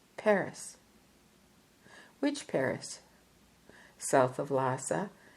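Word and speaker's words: Phagri: my birthplace was called Paris which Paris south of Lassa there's a village called fagri p a g r i the name being pronounced Pari I explained that my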